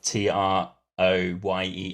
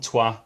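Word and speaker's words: Troyes: about going to France going to a place called tuah which is spelled t r o y s i being a nonr French speaker for was called Troy but he said it's called twah people might know it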